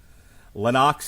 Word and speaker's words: Lennox: first name correctly then how am I not pronouncing Lennox right it's loox Lenox Lewis have you ever heard him say it